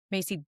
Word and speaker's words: Masi: Um, I'm on LinkedIn as Macy and it's spelled M A Si.